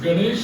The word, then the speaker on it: गं: देखो मैं गं का उच्चार कैसा करता हूँ, अनुनासिक। ओम गं गं गणपतये नमः। ये ऐसा नहीं उच्चारण होना चाहिए, ओम गम, ये नहीं, ये गलत।